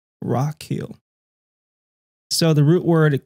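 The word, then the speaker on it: רכיל: says Strong's 8 7 400 and he's is pronounced rakil Rock Hill so the root word it comes from um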